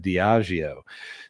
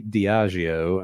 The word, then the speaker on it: Diageo: Man, I always got to think about how to pronounce that. Diageo.